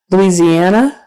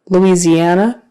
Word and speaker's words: Louisiana: S does not zest Louisiana Louisiana that s in the middle is a z Louisiana Britain Britain so